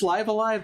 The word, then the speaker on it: Live A Live: live alive i guess it's live alive that's how they say it in the trailer i don't think anyone knew how to pronounce that before liv alive seems like the one